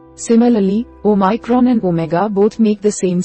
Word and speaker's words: omega: Omega, pronounced the same as omicron.